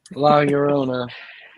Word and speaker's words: La Llorona: La Llorona.